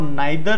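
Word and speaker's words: neither: आइदर वाला case हमेशा कितने के लिए आता है, दो, और नाइदर जो नीदर भी प्रोनाउंसिएट करते हैं ये भी हमेशा दो के लिए आता है।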